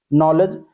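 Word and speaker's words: knowledge: नॉलेज, नॉलेज में अगर देखेंगे तो यहाँ पे के जो है क्या है, के आपका इसमें साइलेंट वर्ड है, नॉलेज, डी भी इसमें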